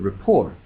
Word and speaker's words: rapport: p o r t that doesn't make any sense in terms of pronunciation that's true but it makes more sense if you know that the word rapport comes to English from French and that the French commonly use a silent T at the end of words